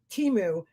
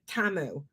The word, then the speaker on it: Temu: Everybody in the fucking free world says Timu, and Laura's got to pronounce it Tamu.